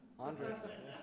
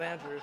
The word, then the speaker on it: Andre: Andre, not Andrew.